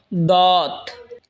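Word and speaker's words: ضاد: এরপর হলো দত। জিহ্বার আগার কিনারা ওপরের মারের দাঁতের গোড়ার সঙ্গে লাগা উচ্চারণ হবে দত।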